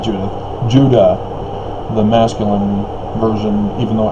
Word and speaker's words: Judah: know like i said judah phonetically the same as utah because it's not a j sound that's the latin based languages european corruption call it j or uh the spanish turned it into an h and it just all